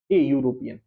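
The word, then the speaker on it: European: जैसे कि यूरोपियन, यूरोपियन से पहले क्या आएगा, यूरोपियन ई से शुरू है, लेकिन उससे पहले आएगा ए यूरोपियन, वाई यूरोपियन, वाई से स्टार्ट होना ना, यू यू ई से यू, अगर आप प्रोनाउंसिएशन को पढ़ें तो वाई से है प्रोनाउंसिएशन।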